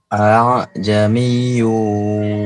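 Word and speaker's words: أَأَعْجَمِيٌّ: Jadi bukan a'jamiyyu dan juga bukan a'jamiyyu, bukan, tapi antara hamzah dan alif. A'jamiyyu wa arabi. Baik.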